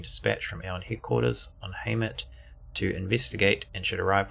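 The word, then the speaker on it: Heimat: Pronounced Haymet. Haymet.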